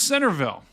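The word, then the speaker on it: Centreville: G says it's yep it's spelled cille but pronounced Centerville I just guys I just don't get it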